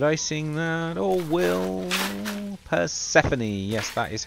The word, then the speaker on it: Persephone: Should I sing that or will Persephone?